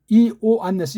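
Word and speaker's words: Ἰωάννης: 그 다음 이, 오, 안네스 이거는 갈라야 돼요. 이건 이중모음이 아니에요. 이, 오, 안 그렇죠? 네스 이, 오, 안네스 그렇게 읽어지게 요라고 읽으면 안 돼요.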